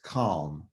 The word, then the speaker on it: COM: Committee on Ministry, COM, which I like to pronounce CALM for short. Please note that I like to pronounce it CALM as in C-A-L-M, but we'll get to that later.